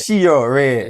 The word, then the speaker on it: CHEORAY: It's Cheo. Oh, Ray. CHEORAY.